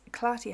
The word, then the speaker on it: Clarty: It is Clarty Hands, and the art in Clarty is how you would pronounce art as in an art gallery.